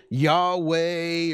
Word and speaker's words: Yahweh: what's known as the tetragramaton uh you can pronounce it Yahweh or Y or however you think maybe the